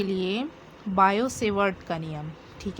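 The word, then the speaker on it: Biot: हैं ठीक है कि यह इंग्लिश में जब लिखा जाता है तो बायोट लिखा जाता है पढ़ इसे देती थी साइलेंट हो जाता है पढ़ते समय बायो सेवर्ट ठीक है माना एक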